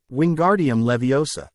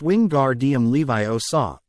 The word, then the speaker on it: Wingardium Leviosa: Wingardium Leviosa, he shouted, waving his long arms like a windmill. You're saying it wrong. Harry heard Hermione snap. It's<unk> wingardium Levi Oaw. Make the gar nice and long.